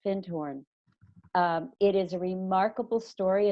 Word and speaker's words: Findhorn: And I highly recommend people to look up, it's called FIND as in dog, HORN, one word pronounced Findhorn.